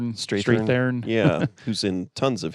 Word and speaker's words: Strathairn: So David Strathairn? Yeah. Strathairn? I don't know how you say his name. Strathairn.